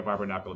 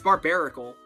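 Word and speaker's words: Barbaracle: It's barbarical. Oh, dude. It's It's You put You put a whole extra N in there, bro.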